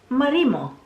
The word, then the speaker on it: marimo: transposing of the pronunciation I'm going to call it Marimo so Marimo is close to marry mwah but it's you know